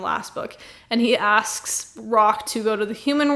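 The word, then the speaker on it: Rahk: This is Rock's Prince Rock I think is his name. It's not spelled rock. It's spelled R A H K. Rock.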